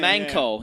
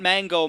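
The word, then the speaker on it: まんこ: manko, not mango, manko.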